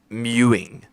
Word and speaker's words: mewing: It's mewing. Mew, like M-E-W-I-N-G.